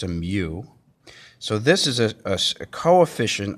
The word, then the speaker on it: mu: called the coefficient of static friction this is pronounced mu it's not a you it's a mu so this is a coefficient of static friction